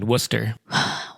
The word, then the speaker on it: Worcester: Uh Worcester. Why is it said Worcester, but it's spelled Warchester. Just easier word English. It's one less syllable.